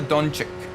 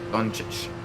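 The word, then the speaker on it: Dončić: I know one of the C's is a CH, another C is a hard C. But I don't remember which one. I don't remember which one is which. It's either Doncic or Doncic. Doncic. Okay, so it's both soft.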